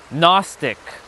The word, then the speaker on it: Gnostic: Or like um Gnostic, even though there's a G in front of that N.